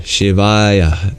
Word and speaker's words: Shivaya: For like Shiva, for example, masculine ah sound at the end, you just prolong the ah and you make it aya. So Om Shivaya Nama.